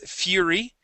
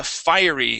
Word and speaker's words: fiery: go to fiery okay here you had read that is Fury okay which is spelled just a little different uh fiery is this word fiery try that fiery good